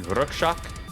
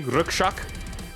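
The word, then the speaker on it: Rakshak: Bloodywood, their recent record that they dropped last year, Rukshak, which is Hindi, I think, for Guardian. I know it's translated to Guardian, but I think that's the proper pronunciation. Rukshak. R-A-K-S-H-A-K. Rukshak. It's definitely something I would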